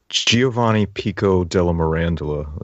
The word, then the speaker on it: Giovanni Pico della Mirandola: So Giovanni Pico della Mirandola is how I pronounce his name.